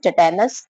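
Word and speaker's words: tetanus: तीसरा है हमारा टिटेनस, टिटनस, इसमें ए साइलेंट होता है।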